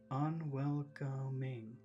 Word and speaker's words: unwelcoming: that's a big word unwelcoming that has four syllables which syllable has the biggest sound unwelcoming un that's where you focus sharp and unwelcoming sharp